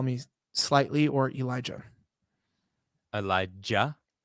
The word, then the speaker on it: Elijah: me slightly or elijah elijah with a with a ja is that how you would pronounce it yeah in hebrew yeah well to be more hebrew but yes elijah very pronounced not ja not ja that's not how it's pronounced it's with a hard j eli i've been saying